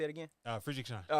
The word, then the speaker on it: Friedrichshain: Friedrichshain.